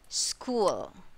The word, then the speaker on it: school: so that is e next example we do have word here school see that school all right when you pronounce this one you hear the letter sound of s c h here school so that is letter k and this one is